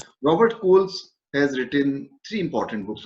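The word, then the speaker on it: Scholes: holes it may appear but actually it is pronounced robert coles has written three important books on his structuralism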